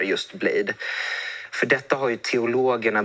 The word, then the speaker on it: Bladee: Men först låt oss bara reda ut hur man uttalar just Blade.